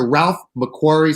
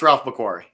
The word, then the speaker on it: Ralph McQuarrie: yeah yeah it's a ralph macquarie signature series corey did all the concept art for the original movie okay so uh i'm pronouncing it incorrectly it's i believe it's ralph mcquarrie mccord okay i believe